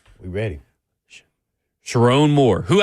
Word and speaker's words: Sherrone: Sherrone Moore, who I've been calling Sherrone Moore for the longest time, and it's Sherrone. Oh, is it? Yes. It's a weird, like it's a double R.